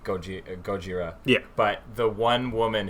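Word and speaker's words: ゴジラ: So Godzilla originally, in the like OG movie, you see it spelled and pronounced Gojira with like a J sound.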